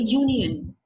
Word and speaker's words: union: A union. It's not that U sound. It is Y. Y O U. The way we sound, the way we pronounce Y O U. It's that sound.